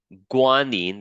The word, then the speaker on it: guanine: Now, the adenine, which is what the A stands for, adenine and guanine, that's how you pronounce these things.